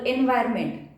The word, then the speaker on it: environment: spelling is different to the pronunciations. Spelling आणि pronunciation मध्ये difference आहे त्यांच्या. एन्व्हायरमेंट, एन आला की एन्व्हायरमेंट होतं, पण त्याचं ॲक्च्युली एक्झॅक्टली प्रोनाउन्सिएशन एक एन्व्हायरमेंट. N here N is silent.